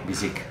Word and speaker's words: Biciq: Hola amigos de TechCetera, hoy estamos con una persona de BISIC. ¿Sí ¿Sí lo pronuncié bien? Sí, BISIC, así Ok, es.